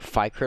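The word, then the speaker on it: Fikret: want your name pronounced uh f-i-k-r-e-t i say it like fight crit a lot i think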